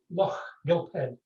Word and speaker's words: Loch Lomond: Sorry, can you maybe repeat that in a correct pronunciation for the listeners back home? Loch Lomond.